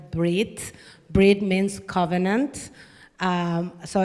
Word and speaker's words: bris: It's called Brit Mila uh which is uh people know it as a bris. Bri is just the Yedish pronunciation of the word brid.